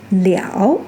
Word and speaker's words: 了: In all of these expressions, liao carried the original meaning of to finish or to bring something to an end.